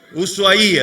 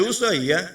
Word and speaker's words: Ushuaia: Ushuaia, exactamente. Ushuaia, o Ushuaia, como le dicen algunos, porque tiene una I en la I, un acento en la I.